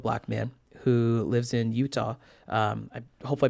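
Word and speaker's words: Eutaw: He was a 65-year-old Black man who lives in Utah. I hope I pronounced that right.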